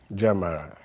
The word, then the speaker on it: Gyamera: tell us my name is Jam Jamaria asaria okay J I'm I'm close I was